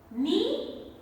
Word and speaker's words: knee: K is silent. Knee, knock, know, knowledge, need, knickers, not.